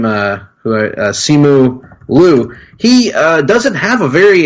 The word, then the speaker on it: Simu Liu: So the Legend of the Ten Rings and Simu Liu. I think I'm pronouncing that right. Simu Liu.